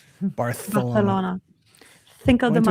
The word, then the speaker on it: Barcelona: You gotta say it like Barcelona. Spanish. Barth.